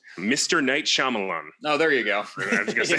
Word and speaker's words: Night Shyamalan: I'm not even sure what the M stands for, so maybe it's really hard to pronounce. Mr. Night Shyamalan.